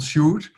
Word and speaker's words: Sjoerd: It's called Sjoerd. Maybe this helps sometimes. It helps people. So this is not how you write it, but this is how you pronounce it.